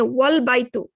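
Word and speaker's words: والبيت: But if it's in the middle, you do not pronounce it because here there is a wa, and wa means and. So now you're not going to pronounce the Hamzatul Wassel. You're going to say wal baytu.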